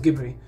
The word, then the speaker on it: Ghibli: studio ghibli was seen it's not jeb bit gibbery something like that it's pronounced gibberi anyway i'm not getting into